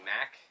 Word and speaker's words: Maak: and how they pronounce my name instead of Mark, they say Mac, and I kind of just stuck at the time, and that's how I became CryptoMaak.